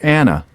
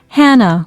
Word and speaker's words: Hannah: what's your name Katie is that k-a-t-y no it's k-a-t-i-e five what's your name Hannah sorry Hannah or Anna Hannah with an h h a n n